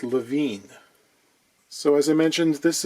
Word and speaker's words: Levine: This guitar is a Goya produced by a company I've been pronouncing Levin forever. Levin, it seems, is actually Levine.